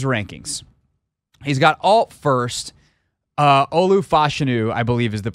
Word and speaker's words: Olu Fashanu: Olu Fashanu, I believe, is the pronunciation there, although I keep hearing different people that are genuinely experts say it totally differently.